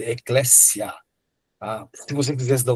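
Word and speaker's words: ἐκκλησία: CS grego. Então ele tem som de dois s, ecléssia, tá?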